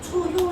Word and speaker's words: 초효: 1효 이렇게 읽지 않고 초효 이렇게 읽어요.